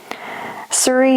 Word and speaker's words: Tsuri: Suri is spelled T S U R I, Yahweh Siri, and it means the Lord is my rock.